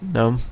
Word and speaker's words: GNOME: um it is pronounced gnome even though that g is in there it's silent because it's uh from